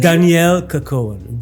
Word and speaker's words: Dannielle Kerkoven: Dannielle Kerkoven. Dannielle. It's a French name actually, so it's nice to pronounce.